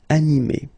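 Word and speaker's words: animée: But then the thing is that you don't pronounce it. So phonetically, you will get exactly the same form. So masculine form, animé, and then a feminine form, animé. Okay, you don't pronounce this E, but then you should write it.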